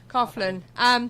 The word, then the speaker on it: Coughlin: How do you pronounce his name? Coughlin. Like coughing. Right, and you got J.L.